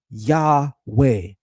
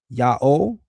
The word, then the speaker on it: Yahweh: This yields Yahweh, not Yao, not Yao, and certainly not Ya O.